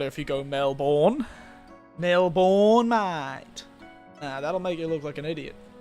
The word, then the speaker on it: Melbourne: But yeah, it's called a schwa, by the way. I think it's called a schwa, which is the sound where you kind of destroy the sound at the end instead of pronouncing it properly.